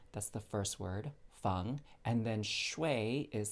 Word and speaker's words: feng shui: is in nancy g that's the first word fung and then shui is spelled s is in sam h u i